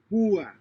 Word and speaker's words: púa: Since these words have a written accent over the letter U, the diphthong is broken and the two vowels are pronounced separately. Púa, Pua.